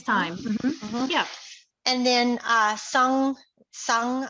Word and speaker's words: Sung: And then Sung, I hope I'm saying this right. I apologize if I don't. Sung shared her Padlet in the chat pod. I hope I pronounced that correctly for you. Yeah, that is correct song.